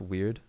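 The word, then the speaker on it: Wyrd: the the glen moral is it pronounced weird i always work it's actually just weird is it weird is it i always thought it's just weird because of the like the weird sisters from shakespeare but i i could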